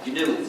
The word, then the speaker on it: GNU: Please pronounce it GNU with a hard G. Because if you don't, you'll get people confused. If you say, I'm using the new operating system, that's already a mistake.